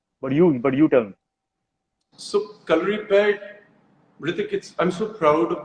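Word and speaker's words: Kalaripayattu: so, calorie pad, Hrithik, I'm so proud of the fact that you said the name correctly because in India, I Thank don't you.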